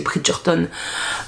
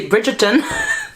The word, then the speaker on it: Bridgerton: a un petit côté Bridgerton je vais le prononcer à l'anglaise parce que ça m'a fait mal aux oreilles il y a un côté Bridgeton oh j'ai vraiment eu